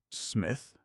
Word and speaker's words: Psmith: The name is Smith. P. Smith. The P is silent. Smith. Smith.